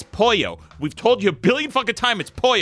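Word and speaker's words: pollo: in your polo burritos we're like Roy its poyo we've told you a billion time it spoiled that's how you pronounce it it's Paul yo and he goes well I'm like it's chicken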